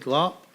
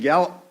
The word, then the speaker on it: Gallop: time thank you sir glop is that right I know I probably pronounced it wrong Gallop Gallup there you go told you I pronounced it my name is Gallop I have been crabbing